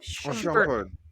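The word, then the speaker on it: Shumpert: Iman, how you how you pronounce his last name? Shampert.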